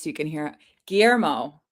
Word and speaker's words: Guillermo: Guillermo. Is that the LL is a J sound? Like the director.